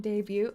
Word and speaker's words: debut: shouldn't be born yet English also doesn't pronounce the T in debut oh that's so true you're so right even though you do in French things are weird things